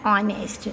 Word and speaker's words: honest: word then the sound o comes script we pronounce it as honest that is why here we use and he